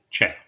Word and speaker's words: Che: I think it's pronounced Shay. I think it's pronounced Chi. Shay. Che? Shay. Che. Shay.